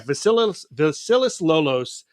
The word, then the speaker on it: Vasilis Lolos: Vasilis Lolos? Yeah, Vasilis Lolos.